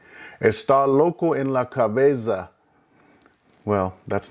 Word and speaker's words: cabeza: Plural would be las cabezas, las cabezas. Again, pay attention to the uniformity of the pronunciation of the vowels, the fact that the Z sounds like an S.